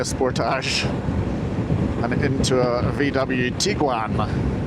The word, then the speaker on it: Tiguan: and into a VW Tiguan, or Tigan as he calls them. Trying to get him to pronounce that properly as well.